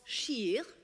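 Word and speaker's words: שִׁיר: Le mot pour chanter en hébreu, the word to sing in Hebrew, se prononce shir.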